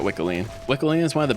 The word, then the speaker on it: Wickeline: Yes, Dr. Naja pronounces this Weakline. I refuse to pronounce it that way, so I'm going to keep calling it Wickeline.